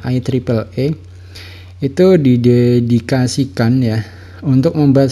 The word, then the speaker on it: IEEE: Dimana yang pertama itu ada IEEE atau kita bacanya adalah IEEE.